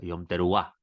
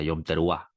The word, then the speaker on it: Yom Teruah: Yom Teruah, la pronunciación correcta, Yom Teruah.